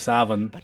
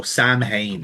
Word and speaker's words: Samhain: Well, way to butcher the fucking pronunciation of Savin.